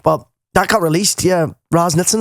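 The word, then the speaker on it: Raz Nitzan: Like, but that got released, Raz Nitzen, is that how you say it? Yeah, Raz Nitzen, yeah.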